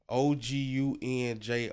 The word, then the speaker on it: Ogunjobi: OGUNJOBI.